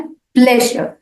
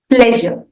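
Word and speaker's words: pleasure: हुई तो माय प्लेजर प्लेजर इस शब्द का उच्चारण करते वक्त आपको स्ट्रेस जो है वो पहले सिलेबल पर डालना है प्लेजर प्लेजर आप पंग वन फ्रेश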